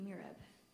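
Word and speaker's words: mihrab: Are there any alternate pronunciations? None. Jiva. Jiva. J-I-V-A. Jiva. Mirab. Mirab. M I H R A B. Mirab.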